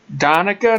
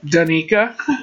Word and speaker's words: Donica: Did you say it donia or how did you say it earlier? Danica. Donica. Well, that was close, but it's Donica. Donica. Like Monica with a D.